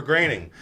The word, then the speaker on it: Groening: Got a twofer working for Groening. Rhymes with complaining.